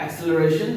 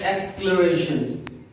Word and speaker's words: acceleration: तो इसको प्रोनाउंसिएशन जो है उसको करते हैं एक्सक्लरेशन। बहुत लोग इसको एक्सेलरेशन बोलते हैं, लेकिन इसका प्रोनाउंसिएशन जो है वो है एक्सक्लरेशन।